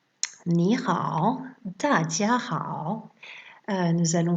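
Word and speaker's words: 你好: La première, c'est pour ni hao, le ni, normalement c'est un 3e ton, ni. Mais quand il y a 2 fois 3e ton, le premier se transforme en 2e ton.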